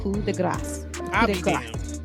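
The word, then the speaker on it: coup de grâce: same thing but ultimately the proper pronunciation of it is the coup de gras so they've been saying it wrong for years and nobody from the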